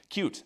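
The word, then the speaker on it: Qt: You could use cute. It's pronounced cute by the way.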